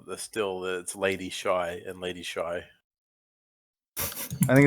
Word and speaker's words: Hai: it was it's Lady Shy and it's lady Q I should get it I should get a sign the X um h-a-i is pronounced the same way as s-h-a-r can we talk about